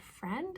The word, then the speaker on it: friend: yet again we have a word where the eye is there that it shows us history of the word it connects it to other members of the family and it's just no longer print pronounced and certainly do so